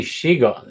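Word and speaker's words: Siegel: It should be Shiegel. It's Jerry Shiegel. Stiegel.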